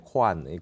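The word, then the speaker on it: kōan: 여기 있는 화두 본칙을 공부를 점검하는 공식적인 그런 문서와 같이 생각을 해서 공안이라 그러고, 이것이 서양에 갔을 때는 일본어로 말이죠, 그죠? 코안선이라 그래요. 코안, 공안을 화두선이라고 안 하고 코안선이라 그랬잖아요.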